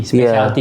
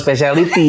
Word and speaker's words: specialty: Specialty coffee. Special emang cara bacanya specialty bukan speciality.